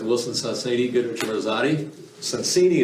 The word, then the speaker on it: Sonsini: Sonsini is the right way to pronounce the name.